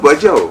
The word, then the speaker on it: Bajau: Termasuk di kamus bahasa Indonesia itu nulisnya Bajau, B-A-J-A-U. Nah, ejaan lama dia masih pakai B-A-D-J-A-U, Bajau. Nah, bacanya Bajau.